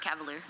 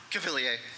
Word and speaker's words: Cavalier: Is it or Cavalere? Cavilier. Okay. YEAH, SURE. It's okay. I've only met one person who can say it right.